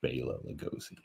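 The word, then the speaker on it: Bela Lugosi: for stuff like this I'm pretty sure it's pronounced Bayla Lugosi it may be a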